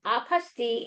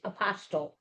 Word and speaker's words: apostille: So Judy, you want to tell them biggest question we get is how to pronounce this word? Yeah. Um, apasti is a French word meaning certification.